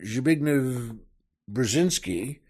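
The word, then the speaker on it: Zbigniew Brzezinski: also worth mentioning that the reason I mentioned zign brazinski which I think is pretty close to how it's pronounced he was uh the National Security advisor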